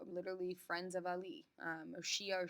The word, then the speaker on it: Shi'ah: Or Shi'ah or Shiite Muslims is how this is pronounced, same group of people.